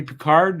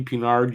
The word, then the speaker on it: Pinard: and he tracked well it's actually Harvey peard it's not Harvey peard you're going to tell me his father's name is John Luke it's Harvey pinard just like it's spelled Cy card make it